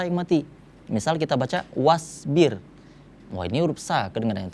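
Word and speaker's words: وَاصْبِرْ: Wasbir. Nah, ya, cara bacanya huruf sha ketika dia diwakafkan maka harus kita tunjukkan kalau itu huruf sha yang mati, bukan huruf sa.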